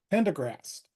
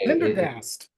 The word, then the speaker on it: Pendergast: Today I'm here with Pendergast, or Pendergast. I said it wrong, even That's okay. Pendergast. Yeah, I Pendergast. put in an Very extra close. R in there.